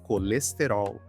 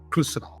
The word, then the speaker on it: colesterol: Okay, in Brazil we say colesterol, colesterol. In Portugal they say cholesterol, cholesterol.